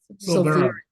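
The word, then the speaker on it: Silveira: Silvera. Yeah, it looks Silveria. like Silveria, but they don't pronounce the I, so it's Silvera.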